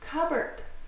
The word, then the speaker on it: cupboard: Cupboard. Cupboard. Cupboard. So notice, it looks like it's cupboard, but no, we can't pronounce the P and B right next to each other, so we just say cupboard, cupboard.